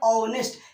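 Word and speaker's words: honest: vowel है अब बताइए किस से स्टार्ट है ह से ह से स्टार्ट है लेकिन इसको पढ़ते कैसे ऑनेस्ट यानी अब हिंदी में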